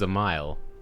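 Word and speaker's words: Dzemael: of house a mile i've been saying that wrong the whole time it's a mile the d is silent hmm how quickly we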